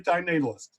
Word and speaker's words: antinatalist: Diane Antinatalist? Yeah. And- No. Anti-natalist. Diane Antinatalist. Diane Diane anti-natalist. Yes. Excuse me. Blend the words together. No extra syllable.